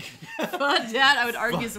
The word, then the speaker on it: Faux Dat: Well, apparently it's pronounced pho, but I'll continue to say faux.